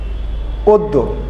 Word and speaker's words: অদ্য: যেমন অদ্য, আদিতে অ আছে, তারপরে দ আছে, তারপরে যুক্ত ব্যঞ্জন আছে, যার ফলে আদির অটি চেঞ্জ হয়ে ও হয়েছে এবং উচ্চারণটা হয়েছে অদ্য।